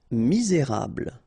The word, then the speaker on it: misérable: Misérable. Okay, don't insist on the final here. You get this bl sound at the end. Okay, misé, et because you've got this accent aigu, rable, misérable.